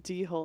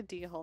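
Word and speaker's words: dhole: out of the stems yeah d-hole not a d-hall not a default hello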